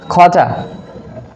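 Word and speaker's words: quarter: Okay, Q ইউ এ আর টি ই আর, টি আর, তাহলে খটা, লাস্টে যদি ই আর থাকে বা আর থাকে তাহলে সেটা কিন্তু আমাদের আমেরিকান স্টাইলে উচ্চারিত হয় না, তাহলে আমরা উচ্চারণ করতে পারি খটা।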